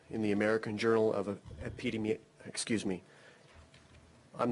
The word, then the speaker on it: Epidemiology: All right, have you published in the American Journal of Epidemiology? I'm not certain how to say the word, but... Epidemiology.